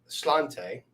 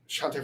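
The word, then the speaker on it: Sláinte: Sending Slante. Oh, no, that's not how they pronounce it in Ireland.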